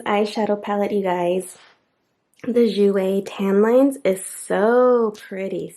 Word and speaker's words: Jouer: The Jouer, yes, I know how to pronounce it now. The Jouer, oh my god.